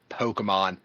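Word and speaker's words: Pokémon: want Doc to say Pokemon repeatedly. Because Pokemon. That Pokey. because she hates it when people pronounce the E.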